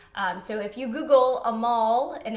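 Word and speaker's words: Amahl: tidbit that the first Hallmark Christmas movie was a mall in the night visitors so that Opera is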